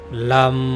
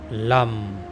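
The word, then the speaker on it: लं: लम एल ए एम लम मेरे साथ बीज मंत्र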